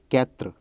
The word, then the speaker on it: quatre: 4 is quatre.